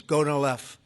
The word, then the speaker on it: Gonal-F: So it's Gonal-F. Is that a proper pronunciation? Very Close well enough, done. right? Very well done.